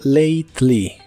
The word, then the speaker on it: lately: lately que significa últimamente la a se pronuncia como e y la letra e no se pronuncia solo lately lately y usaremos la